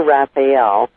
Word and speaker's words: Raefiel: no problem at all it is Raphael the first name is spelled ATH hmmmm instead of with an A on the end and Raphael is so just a little differently because it's ra e f like in fact IE L instead of like the